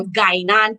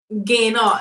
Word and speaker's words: Guyana: Sometimes I confuse, but so I know that in Barbados they got the second annual Guyana People's Choice Awards 2021. Did I say it right? Gain on.